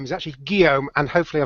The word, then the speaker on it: Guillaume: And today's guest is the French, or his proper name is actually Guillaume, and hopefully I pronounced that correctly.